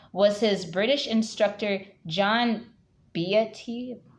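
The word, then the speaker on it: Beattie: his British instructor John BT that's how you pronounce his name John beauty comes plays a major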